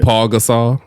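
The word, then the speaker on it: Pau Gasol: Or Paul Gasol. There's no L in his name.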